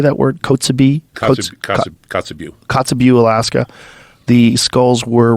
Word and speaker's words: Kotzebue: Kotzebue.